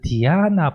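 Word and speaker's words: dhyāna: 우리 그 디아나 보통 산스크리트에서는 디아나라고 하는데 팔리어에서는 자나라고 하고요.이 이 간다라에서도 자나 혹은 조금 더 약화돼 가지고이 자나 사나 요런 발음이 나던 것 같습니다.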